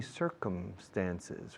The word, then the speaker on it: circumstances: So he met my mother in funny circumstances. Fijaos cómo pronuncio circunstancias. Sí, señor. Yes, sir. Come como come, venir. Circumstances. Cerrando la boca con la M, por favor.